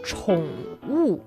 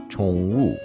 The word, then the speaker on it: 宠物: It's 宠物. 宠物.